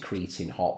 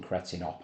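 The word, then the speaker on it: Cretin Hop: Um well they pronounce it creating hot when Joey's singing cretinop I would say but creating hop sounds cool is is a great way to open up the record.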